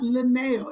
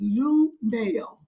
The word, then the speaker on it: Lunell: Her name's not Linnell. It's Lunell. That's what I said, Linnell. You say it like it's L-I. It's Lunell. It's not Linnell, Chicago accent.